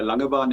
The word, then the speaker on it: Langebaan: Yes, very good pronunciation there, Ashwin. It's a Langebaan indeed, and it's Afrikaans word, and it's 120 kilometers